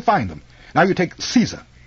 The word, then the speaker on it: Caesar: them now you take Caesar it's Latin in Latin it's pronounced like Kaiser with a hard C but we anglicize it by pronouncing a soft SE the Russians say zah